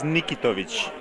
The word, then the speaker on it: Nikitovic: Well, the correct pronunciation is Nikitovic. You have to just be cool and smooth about it.